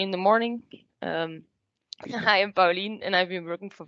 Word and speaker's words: Paulien: pronounce the name properly. Paulien. Paulien. It's Paulien, okay.